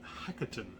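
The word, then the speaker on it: Hekaton: guy's impressive we have king hackerton that's how you pronounce it again he comes with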